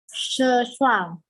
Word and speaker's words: 症状: 症状。症状. 症状。 Jadi ZH itu bacanya C. H-nya itu karena lidahnya diangkat ya.